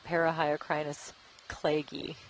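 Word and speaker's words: Parahyocrinus cleggi: I always appreciate it when people spell out the pronunciations of words that I've never seen before. So let's try it again. Parahyocrinus clagy.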